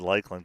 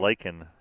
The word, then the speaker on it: Laken: Bring up I had Lakeland, Canada. Canada, yep. Number Or 4. Laken, Canada. Like a lake in Canada.